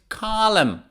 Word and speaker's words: column: it's silent autumn autumn silent n next one is column column the entrance of the museum had two very huge columns column the next